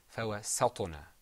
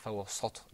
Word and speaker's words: فَوَسَّطْنَا: But this is a tricky word because there's a letter that's pronounced with the corners of your mouth back, and then right after it there's a letter with you're going to purse your lips. There's harf muraqqaq and then harf mufakham. So that's kind of hard. Okay? But the right pronunciation is فَوَسَّطْنَا. Okay, not فَوَسَّطْنَا.